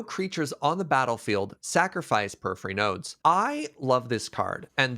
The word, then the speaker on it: Porphyry Nodes: We're going to talk about Porphyry Nodes. How'd I do with the pronunciation there, by the way? That's pretty good. Mm-hmm. Nailed it. Porphyry? Porphyry Nodes.